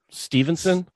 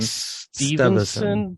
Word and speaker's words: Steveson: oh oh Gable um Stevenson yeah but it says Evanston yeah it's weird um yeah Steverson St like e-v-e son or something like that yeah it looks like Stevenson but it's not pronounced yeah right something like